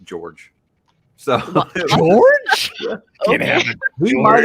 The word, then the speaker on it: Jorg: Is it Jorg? Am I saying it right? I haven't read it. I always said Jorg. I asked Mark Lawrence way back when, and he told me it was pronounced George.